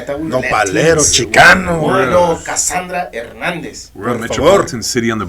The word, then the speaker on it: Hernandez: whole thing is that they called her Cassandra Hernandez no what is that man I thought we were Latinos man I thought we were candra ernandez we're Metropolitan City On the Border if angel